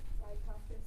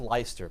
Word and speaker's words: Leicester: So the plaintiff sold a piece of Leicester Square to... Yeah, it's pronounced Leicester, but not important.